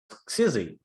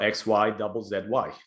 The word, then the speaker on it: Xyzzy: world in video games which is of course cz or x y double z y as you like to pronounce it so when did it